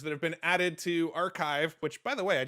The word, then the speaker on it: arXiv: that a RX I I've always pronounced it arxiv but in the Ted Talk he pronounced it archive so I learned the correct pronunciation of that today so he was looking